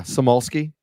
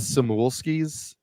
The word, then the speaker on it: Samulski: Yeah, Samulski. I get a lot of Samulskis or Samulski, but whatever.